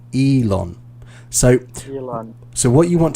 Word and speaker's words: Elon: behind tesla okay so when you said his name i heard ellen must say ellen yeah um but in in the well english pronunciation elon so so what you